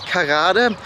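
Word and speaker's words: Karada: about getting frozen yogurt South of baka there's kada it's spelled k r a d a also written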